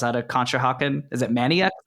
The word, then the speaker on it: Manayunk: Is it Manayunk? Manayunk. Manayunk, yeah.